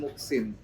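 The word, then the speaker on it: Moehsin: Jadi nama saya itu sebenarnya Muksin. Muksin. Insya Allah orang yang baik ya. Oh ya. Nah, tapi sebenarnya kan pakai ejaan lama MOE. Muksin, MOEJSIN.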